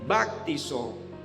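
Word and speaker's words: βαπτίζω: Repito, bautismo viene del griego bactizo y se pronuncia bastante fuerte bactizo, que quiere decir simplemente inmerso, sumergido, pero buscando un poquito encontré una palabra que quiere decir saturar.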